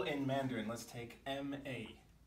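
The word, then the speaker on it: 骂: And if the pitch of my voice falls as I produce the syllable ma, ma, it means to scold somebody, to scold, to yell at.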